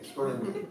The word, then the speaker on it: Sperlinger: Is it hard G or soft? Hard G. Okay, Sperlinger.